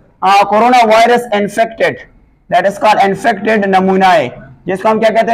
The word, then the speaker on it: pneumonia: virus corona virus infected, let us call infected नमूनाए, जिसको हम क्या कहते हैं नमूना, इसको हम कहते हैं दैट इज कॉल्ड एन